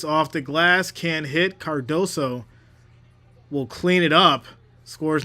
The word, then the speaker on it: Cardoso: I keep saying sa. I don't know why. It's Cardoso. Cardoso. I got to say it like keep saying it in my head.